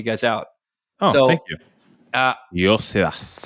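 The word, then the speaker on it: Iosivas: Says, hey guys, the correct way to pronounce Andre Yoshivash's name is Yosivas.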